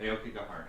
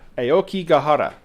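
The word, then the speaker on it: Aokigahara: try really hard not to butcher this name Aoki gahara uh I hope I pronounced that correctly you got it right Aoki gahara Aoki gahara um which has many many horrible names uh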